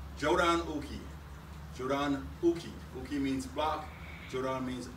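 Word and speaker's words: jōdan uke: a basic header block a head block is pronounced jodan Uki Jordan means black Jordan means upper the basic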